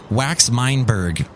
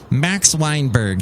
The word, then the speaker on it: Max Weinberg: lot of whack of wax mineberg wait i said that name wrong max weinberg he was the drummer